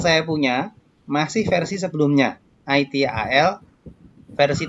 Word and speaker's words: ITIL: Bacanya gitu ya, jangan bacanya yang aneh-aneh. Tulisannya ITIL. Bacanya ITIL, pelan-pelan bacanya, oke?